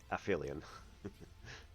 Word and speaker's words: aphelion: Well, just to make sure I never mispronounce it correctly. Yes, definitely aphelion.